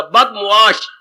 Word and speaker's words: बदमुआश: बदमाश शब्द नहीं होता, बदमुआश। बद मैंने बुरा, मुआश मैंने व्यवहार, जिसका व्यवहार बुरा हो, जिसका आचरण बुरा। बदमाश हम बोलती है पर ये उच्चारण गलत है।